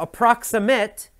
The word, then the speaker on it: approximate: Now, approximate is an adjective, and you have to listen carefully. The pronunciation is different for the verb and the adjective. As an adjective, you say approximate.